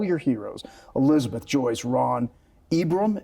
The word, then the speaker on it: Ibrahim: But of all your heroes, Elizabeth, Joyce, Ron, Ibram, is that Ibrahim, correct? yeah. Ibrahim is how Yeah. you pronounce it.